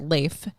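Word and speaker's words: Leif: i f uh yes I think I've always pronounced that leaf it's it is leaf that's so cool it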